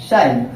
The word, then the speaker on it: shine: पढ़ेंगे आप, नो, ठीक, लेकिन इस ई का कोई उच्चारण नहीं होगा। तो जब आप इसको पढ़ें साइन, शाइन, तो देखिए यहाँ पे